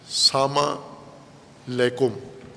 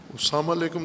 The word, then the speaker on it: السلام علیکم: جیسے سلام کرتے ہیں ہم، سلام علیکم، البتہ اپنے لہجے میں، بعض پنجابی لہجے میں سلام کرتے ہیں یا غیر پنجابی میں سلام علیکم، ساما لیکم. نہ ساما کا کوئی معنی ہے، نہ لیکم کا کوئی معنی ہے.